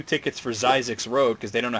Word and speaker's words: Zyzzyx: It's supposed to be Zyzzyx. Oh, Zyzzyx. Okay, so number 1 is Zyzzyx Road, which I guess nobody wanted to come up to the counter and say 2 tickets for Zyzzyx Road because they don't know how to say it.